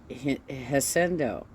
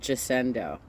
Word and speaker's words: Jacinto: Mount Haciendo. You keep calling it Jacinto.